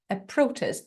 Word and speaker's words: protest: the protests and actually I pronounce it with the stress on the first syllable protest a protest because it's a noun